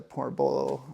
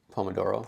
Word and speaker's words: Pomodoro: or when you take small breaks with the portoolo or pornamolo. Portoabolo technique. Pomodoro. Pomodoro. Thank you. I knew I wasn't saying it right.